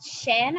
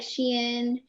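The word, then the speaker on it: Shein: i like this place i barely even know how to pronounce it it's called chin i think s-h-e-i-n yes something like that yeah it's like something like sheen yeah something like that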